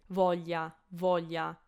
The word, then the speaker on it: voglia: Voglia. The G has nothing to do with anything. Like there's no G in the sound.